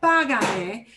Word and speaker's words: págame: But now by saying págame, I am changing the way I pronounce the word, is breaking the rule of what gets more stress. So I do need to add in the accent mark on págame.